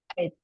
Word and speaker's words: eight: Ini juga bacanya Eight. eight ya, GH-nya juga nggak dibaca.